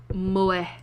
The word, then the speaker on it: moe: Pronounced moe.